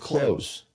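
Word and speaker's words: Cloze: I've heard great things about Lofty or I can go with Clothes. I think that's how you pronounce it. C O L Z E.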